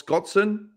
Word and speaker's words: Scotson: Here's Miles Scotson after the finish. And also, I pronounced his name properly. I think I typed it as Scott Sand, S-A-N-D, not Son.